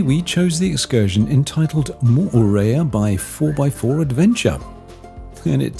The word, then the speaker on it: Moorea: Polynesia mayeva welcome to part two the name Moorea commonly called murraya which is the incorrect pronunciation means yellow lizard in Tahitian and we